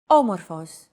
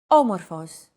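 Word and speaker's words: άμορφος: a language is intonation did you notice the accent mark above the first letter there is only one type of accent mark in modern Greek the acute accent it adds stress to a syllable a stressed syllable usually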